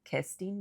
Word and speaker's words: Kerstin: Her name was Kerstin Bonke. It was what? It was like spelled like Kristen, but you said it Kerstin or something.